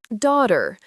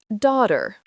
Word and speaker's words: daughter: Daughter. The gh is silent. Daughter.